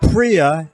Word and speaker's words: Pria: is gonna tell us what Priya am I saying it right you got it so is by Black